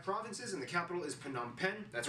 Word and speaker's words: Phnom Penh: divided into 25 provinces and the capital is phnom penh that's right people it's pronounced phenom pen formerly named chakto mook is actually very conveniently